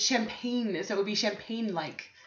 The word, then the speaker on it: champagne: You don't pronounce the G in champagne. It's not champagne. It's champagne, so it would be champagne-like.